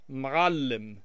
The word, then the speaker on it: معلم: There's a letter in the Arabic language called ayn or ayn, depending on which dialect of Arabic you're speaking, and it makes kind of like a choking sound. But when it's written, it looks like our number 3, and that's why Arabic teachers use the number 3 to represent uh.